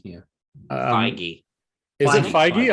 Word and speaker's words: Feige: Kevin Feige, yeah. Feige. Is it Feige? I thought it was Feige, like an H sound.